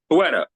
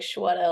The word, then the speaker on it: Shweta: Is it Shweta? It's Shweta. Shweta. Okay, Shweta. Yeah, My, I always like to tell people it's like Shweta, like a sweater. oh, okay. That's pretty easy to remember. Shweta.